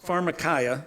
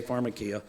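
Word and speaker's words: φαρμακεία: Because in the original Greek, the word for sorceries is pharmarmacaya. That's how you pronounce it in Greek. A lot of us say pharmarmacia.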